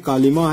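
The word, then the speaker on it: Colima: फिर यहाँ पे आप आते हैं मैक्सिको में, तो मैक्सिको में कालिमा है, कालिमा है, ठीक है, सॉरी कोलिमा है, ठीक है, कालिमा भी पढ़ते हैं, कोलिमा भी पढ़ते हैं, ओके।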